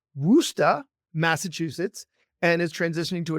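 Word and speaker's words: Worcester: partner in private practice in and this is pronounced wusta Massachusetts and is transitioning to a direct care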